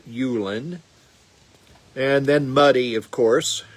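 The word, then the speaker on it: Ullin: U L L I N. Not Olen, but Ulan.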